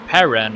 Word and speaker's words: Paran: him and let's see ran is the one that is closes or Paran actually I said his name wrong but he crashes just